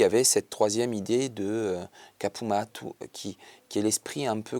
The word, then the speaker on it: Capu Mattu: Si on doit le prononcer, l'accent tonique c'est Kapumatu.